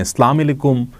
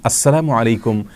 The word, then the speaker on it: আসসালামু আলাইকুম: তিনি বলতে চেয়েছেন যে অশুদ্ধ এবং বিকৃত উচ্চারণে ইসলাম আলাইকুম যদি কেউ বলে তাহলে সেটা সঠিক এবং আসসালামু আলাইকুম এভাবে শুদ্ধ এবং সঠিক উচ্চারণে যদি কেউ বলেন তাহলে